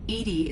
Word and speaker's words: EDI: airlock is a jar why are you named edie edie is the phonetic pronunciation of edi that is an acronym for